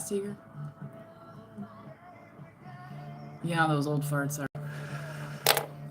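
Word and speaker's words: Seger: You know, some people say his name like like almost like Sugar, but not Seager.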